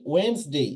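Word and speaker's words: Wednesday: ওয়েডনেসডে, আমরা কি বলি? ওয়েডনেসডে। It will be ওয়েডনেসডে, এখানে ডি এর উচ্চারণ হবে না।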